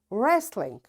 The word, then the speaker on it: wrestling: Wrist, wrestling, wrong, ran, wrinkle, rack, wrap, wrench. You see, in all these words, because W is followed, after W there is R, so we don't pronounce this W.